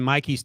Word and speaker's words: Mikey: was just thinking in Mikey's case um and by the way he's bu M but he pronounces it Mikey which I sort of